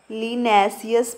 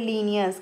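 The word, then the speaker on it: Linnaeus: तो इस बुक को लिखने वाले का नाम है लीनियस। क्या है, लीनैसियस पढ़ लो, या फिर लीनियस, क्या, लीनियस।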